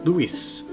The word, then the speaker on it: Louis: At the time his name was pronounced “Louis” with the “s” being pronounced.